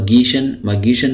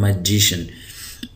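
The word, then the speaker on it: magician: यभ देख रहे हैं जी के बाद आई आ रहा है तो इसकी आवाज गाफ नहीं होगी बल्कि इसकी आवाज जीम होगी तो इसको मैं कह रहा हूं इसको मैं गश मशन नहीं पढ़ रहा मैं इसको पढ़ रहा हूं मैजिशन तो मैजिशिन कहते हैं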